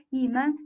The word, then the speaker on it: 你们: So 你们 together should be pronounced as 你们, 你们. We can find 们 is pronounced lighter and shorter.